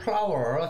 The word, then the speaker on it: flour: 자, 첫 번째 재료를 보면요, 1 cup of flour. 자, flour는 뭐 밀가루죠. 우리가 꽃이라고 하는 플라워와 발음이 똑같은데 얘는 이제 밀가루라는 표현이죠.